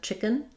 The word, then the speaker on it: chicken: So for chicken, first syllable stress, and in the American accent, chicken, we're really going to reduce and have a schwa or almost no vowel there.